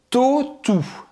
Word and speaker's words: Tautou: Audrey Tautou.